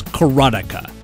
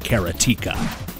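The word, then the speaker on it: Karateka: who will fight to the death over the pronunciation of Jordan mesh's first game but alas it's kartica and not karatica speaking of which it's ninja giden not ninja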